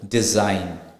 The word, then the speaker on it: design: let's look into G the letter G is not pronounced when it comes before n in a word for example design foreign so here you see the G is not pronounced it's silent same thing with foreign f o r e i g n so it's f o r e i g is not pronounced it's just n so it's foreign and the same goes with design G GH so now